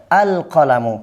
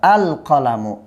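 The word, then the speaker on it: القلم: আল কলামু কি হবে? আল কলামু। কলামুনের শুরুতে আলিফলাম যোগ করলে আপনার আলিফ লামটা একদম স্পষ্টভাবে আলাদাভাবে উচ্চারিত হবে। আল কলামু।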